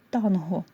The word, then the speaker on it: танго: бадьорий пишемо через дефіс танго пишеться і читається з г за новим правописом за старим правописом Я